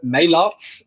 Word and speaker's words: Meylaerts: out my name is Motz that's the English pronunciation I'm originally from Belgium